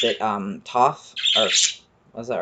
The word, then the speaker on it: Thoth: on that so the egyptian god that's name is spelled t-h-o-t-h we literally actually have no idea how to